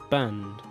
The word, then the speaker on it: banned: band, band, band. The ED is pronounced d, band.